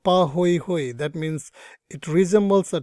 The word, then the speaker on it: pahoehoe: types okay now again these are like Hawaiian language so the first type is called something called pahoehoe that's how we pronounce this so it's called pahoehoe that means it resembles